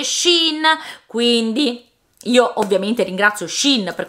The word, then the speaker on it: Shein: Sì, fidati di me, non so quanto valga, ma posso garantirti che si pronuncia Shein.